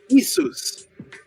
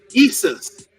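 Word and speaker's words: Ἰησοῦς: oet became Mary Isis how do you say Jesus in Greek isus isus isus is the name of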